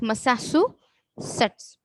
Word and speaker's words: Massachusetts: The pronunciation is Massachusetts.